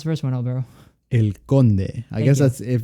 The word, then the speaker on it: El Conde: How do you pronounce the first one, Alvaro? El Conde.